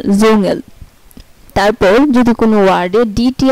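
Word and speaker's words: Dschungel: আচ্ছা, তারপর হচ্ছে যদি কোনো ওয়ার্ডে ডিএসসিএইচ একসাথে থাকে, যদি কোনো ওয়ার্ডে ডিএসসিএইচ একসাথে থাকে তাহলে এটার উচ্চারণ হবে বর্গীয় জয়ের মতো, যেমন জুঙ্গেল, এই যে ডিএসসিএইচ এবং জিএল, জুঙ্গেল।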